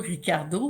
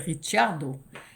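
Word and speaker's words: Ricciardo: conducteur de F1 automobile, Pier disait toujours Ricardo mais en fait c'est un nom italien, ça serait Richardo. Puis j'avais demandé à Pierre, j'ai dit pourquoi tu prononces Ricardo si c'est Richard ? dit parce que lui veut qu'on le prononce comme ça.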